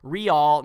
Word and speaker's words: Real: Also, Monica's last name is Real, not Rail, just in case you wanted to get that right for your next video.